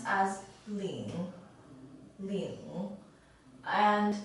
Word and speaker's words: 领: this character is pronounced as Ling Li and it's normally used when it's a